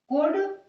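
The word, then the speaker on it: could: कुड, यहां पर भी हम एल का यूज नहीं करते हैं.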